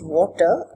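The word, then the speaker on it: Watir: tools for test automation selenium water this is pronounced water tool called ranorex which i already introduced you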